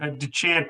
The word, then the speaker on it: Deshant: Deshant, by the way, is the Chicago pronunciation. I think it might be French, but we'll skip over that.